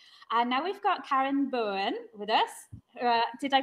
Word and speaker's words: Boen: the festival is and now we've got Karen Bowen with us uh did I pronounce the your last name correctly yes yeah I think this is the as